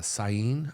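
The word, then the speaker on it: Syene: were Alexandria and uh a city called uh cyan I believe I'm saying it right uh s-y-e-n-e um they were very close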